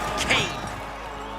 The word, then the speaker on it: Cain: Cain rhymes with pain, and Cain will beat Skullface.